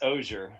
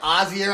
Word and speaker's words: Ozier: And that's Ozier. Oh, because earlier I was like Ozier.